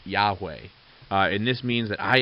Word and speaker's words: Yahweh: name I am which in Hebrew as you'll see on the screen is why HWH pronounced Yahweh and this means that